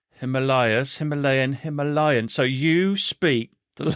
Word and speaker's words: Himalaya: How do locals pronounce it? Himalaya. Himalaya. You can say Himalaya though, because even over here they'll say one or the other. It's it's interchangeable.